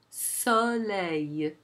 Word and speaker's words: soleil: You can hear that intermediate sound also in a word such as soleil. Soleil. It's not a, it's so, a. Soleil.